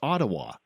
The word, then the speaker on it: Ottawa: And I said, "It's Ottawa." And the teacher goes, "You're pronouncing it wrong."